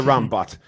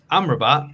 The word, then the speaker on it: Amrabat: Well, it's a Rambat or Amrabat, whatever you want to pronounce it. Sofyan. I mean, the second Amrabat. one, because the first one was wrong, but yeah.